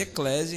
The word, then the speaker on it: Eclesia: A pronúncia se escreve Eclésia, então se você pesquisar lá no Spotify e no Deezer, com 2 Cs.